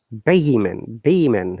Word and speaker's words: vehement: Okay, as you know, H is silent. Once Mm-hmm. again, can you please read these words? Yes, teacher. Honor, our, honest, and air, vehicle, and vehement. Vehement, actually.